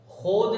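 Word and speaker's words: ख़ुद: वाव नहीं पढ़ा जाएगा खोद लिखा जाएगा खुद पढ़ा जाएगा खोर लिखा जाएगा खुद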